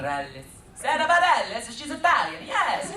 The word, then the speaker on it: Bareilles: Bareilles.